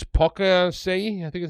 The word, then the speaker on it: Poaceae: It's Poaceae, I think is how you pronounce it.